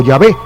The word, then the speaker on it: Yahvé: Aunque sus publicaciones admiten que Jehová no es la pronunciación correcta del tetragrama original hebreo, que se escribe con YHWH, ellos insisten en usar ese nombre solamente en vez del nombre más correcto, o Yahvé.